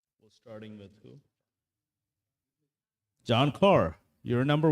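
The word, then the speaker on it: Ker: For those of y'all who don't know me, my first name, John, has no H, and my last name, Carr, has no A. It's K-E-R and pronounced Carr.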